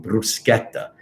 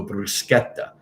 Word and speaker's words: bruschetta: so bruschetta bruschetta so you have to pronounce it with the r rolling bruschetta and even if you roll the r like i did bruschetta and you don't want to do that so bruschetta so anyway now um